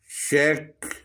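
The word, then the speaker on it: shake: Stamp, stamp जो शेक, शेक यहाँ पर ई जो है साइलेंट है।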